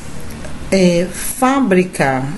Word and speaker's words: fábrica: Fábrica, sílaba tônica está no fá.